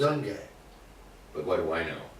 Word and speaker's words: Junge: I would say Junge. Youngie, yeah. That's the way I would pronounce it. Youngie.